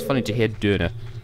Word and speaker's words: Döner: I love how they pronounce Donna in German, because it's actually closer to the Turkish, but it just still kind of sounds funny to hear Döner.